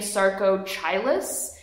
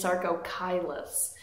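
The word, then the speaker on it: Sarcochilus: it in my favorites because it has a pronunciation guide oh my gosh so helpful because actually I was saying Saro chus and it's Saro kylus so it's really excellent educational informative you can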